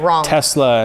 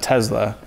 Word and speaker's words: Tesla: It's accepted, but I mean, it's like Tesla and Tesla. Elon pronounces it Tesla, so it's Tesla. Probably Tesla. But Americans say Tesla, so that is also considered correct.